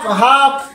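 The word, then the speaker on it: half: এই জন্য আমরা সর্বক্ষণের জন্য এই দ্বিতীয় ক্লাসটা অবশ্যই আমরা সবাই খেয়াল রাখবো যে কোনো শব্দের শেষে যদি KFM থাকে, তার আগে লেটার যদি এল হয়, তখন এল সাইলেন্ট হয়ে যায়। কাপ, হাফ, কাম, ফক, এইরকম অসংখ্য লেটার বইয়ের মধ্যে অসংখ্য লেটার লুকানো আছে।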